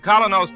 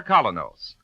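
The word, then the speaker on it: Kolynos: Ladies and gentlemen, Colonos Toothpaste presents Mr.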